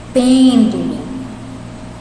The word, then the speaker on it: pêndulo: Pêndulo. É o pen, né? Pêndulo. Então, o acento vai no pen.